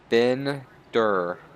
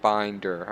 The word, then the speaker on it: Bender: Bender, not Binder. Okay, so we've been saying the wrong thing for John Bender. I keep pronouncing it Binder, my mistake.